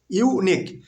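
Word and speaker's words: unique: ইউনিক, এর প্রথম বর্ণ হচ্ছে ইউ, কিন্তু উচ্চারণ কিসের মতো? ইউ এর মতো।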